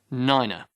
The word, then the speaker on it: nine: seven eight eight and nine should be pronounced niner decimal decimal hundred hundred